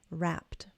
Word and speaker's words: wrapped: It is indeed like a tea. Very very good. Okay. Because S and P are unvoiced. So S is quiet. It's unvoiced. And P is also quiet. PP P-p unvoiced. That's why the ed ending sounds like a T here.